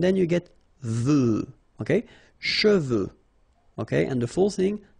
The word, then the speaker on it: cheveux: of a problem because some of the students normally pronounce it chevaux, okay? So try to keep in mind that you get E-U here. So it goes like okay, and then final X not pronounced, sorry, final X, should pronounce it the French way. Final X is not pronounced.